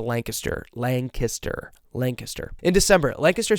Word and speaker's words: Lancaster: By the way, if you're not from Lancaster, PA, and you ever pronounce it Lancaster, you will be crucified. It's a Lancaster.